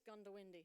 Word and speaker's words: Goondiwindi: So I am new to Queensland, so please forgive me if I don't pronounce this correctly, but I think it's Gundawindi.